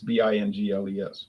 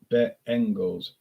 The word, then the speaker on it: Bengals: Or they'll say Cincinnati Bengals, or I was watching the Bengals, but like it's Bingles, but it's Bengals, Bengals.